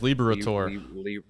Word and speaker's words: Liberatore: That is Liberatore.